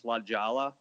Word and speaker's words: La Jolla: I think you guys are pronouncing it wrong. It's Lajala.